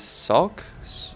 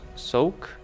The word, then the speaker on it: Souk: uh the map I don't know how to pronounce this sulk sulk s-o-u-k the uh the abilities I'm using are